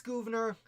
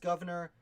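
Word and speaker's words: Gouverneur: is from governor morris i think it's governor i hear pronounced governor it's spelled strange again i know the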